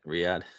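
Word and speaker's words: Riyadh: RI y is that how you say it Riad yeah uh then they go to adelay yep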